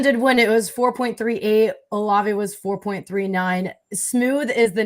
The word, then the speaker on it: Olave: When I was on the Football Fever in Columbus, we wouldn't say Chris Olave. We'd go Olave. That's how we would pronounce it, because he was always just so smooth.